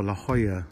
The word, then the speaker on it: La Jolla: Beautiful La Jolla, that's how you say it. I thought it was La Jolla.